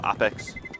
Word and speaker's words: Apeks: It's pronounced with an AH, and so Apeks, like that.